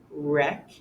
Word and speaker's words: wreck: WR words where you only hear the R sound. Ring, wreck, right.